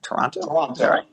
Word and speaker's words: Toronto: seen that last name toronto toronto just like the city like the city perfect